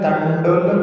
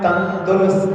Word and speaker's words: तंडुल: उदक चंदन तंडुल पुष्प कैश। हाँ, किताबों में तंदुल छपा हुआ है, वास्तव में वो तंडुल होना चाहिए। डुल, तंडुल, डा होना चाहिए।